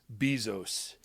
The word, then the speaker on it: Bezos: Bill Gates or Jeff Bezos. Is that how you say it? Bezos. Jeff Bezos. Bezos. Um, is it bees or beez? It's a z, right?